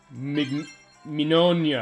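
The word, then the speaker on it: Mignogna: Mignonia, I believe it is. Because it's the Italian pronunciation.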